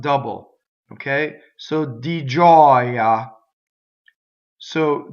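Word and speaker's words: gioia: Giɔia. Notice that the word giɔia has a stressed vowel that's surrounded by semivowels, but it's an open O. Giɔia, ah. So together it's di giɔia in giɔia.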